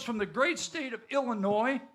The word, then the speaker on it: Illinois: He hails from the great state of Illinois. The S is silent.